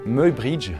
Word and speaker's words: Muybridge: Et là, on a un certain Edward, du coup ça se prononce comme ça apparemment, Edward Muybridge.